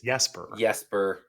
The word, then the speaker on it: Jesper: Well, because you said it wrong. It's Jesper.